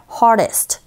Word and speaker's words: hardest: 그런데, 자, 강모음과 양모음 사이에 R 하나 껴있고 그 상태에서 D사운드가요, 역시 영향을 받아서 R 소리에 가깝게 들리는 경우가 허다합니다. So, hit hardest가 아니라 hardest, hardest, 이렇게 발음하시면 돼요.